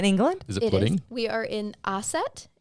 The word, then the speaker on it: Ossett: Yes, we are in Aset. It's a market town near the city of Wakefield. I'm sure you pronounced all of those wrong. I did. No, I pronounced them right.